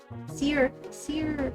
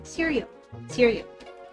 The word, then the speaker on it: Sirjo: And it says how it's pronounced. Sirio serial as a serial.